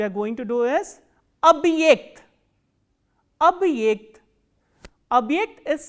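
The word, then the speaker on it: объект: The next word we are going to do is abhyekt, abhyekt. Abhyekt is spelled as O, B, hard sign, ye, k, t.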